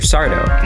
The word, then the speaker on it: Sardo: from Shifty shop owner Mr sardo no Mister Accent on the a recurring fan fave who